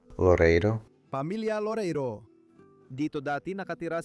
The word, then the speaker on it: Loreiro: Pero ngayon idod-dokumento natin at ipapakita sa inyo ang bahay ng pamilya Lore Heriro. Tama ba ang pagbigkas ko? Loreiro.